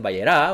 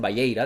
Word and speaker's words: Vayeira: o sefardí, algunos dicen Vayerá, otros dicen Vayeira, dependiendo de la pronunciación.